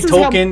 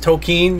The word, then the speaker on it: Tolkien: stuff is uh and i i i say token it can be pronounced token it depends on who you are i don't give a i'm saying token if you have a